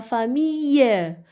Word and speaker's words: famille: Alors, I-2-L-E, ça se prononce I. Toute la famille.